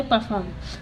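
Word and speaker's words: perform: परफॉर्म परफॉर्म ठीक है इसको बोलते परफॉर्म तोय यहां प आर साइलेंट रहता है ह्यूमन इसको बोलते हैं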